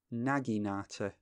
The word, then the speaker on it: naginata: and ice' but they're going after alguien atta pronounce that wrong again didn't that Oh naginata naginata try and commit that to memory okay